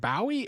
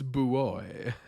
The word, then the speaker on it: buoy: is it is it is it Bowie or booy it's booy whoops all right uh Boo